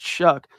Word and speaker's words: Shough: You would never guess that Tyler Shuck's name, if you see how it's spelled, Shough, is pronounced Shuck.